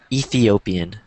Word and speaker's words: Ethiopian: The T in this, so remember that when you say the word, instead of saying Ethiopian, because it sounds, when you pronounce it like that, you don't get the TH and then it sounds funny.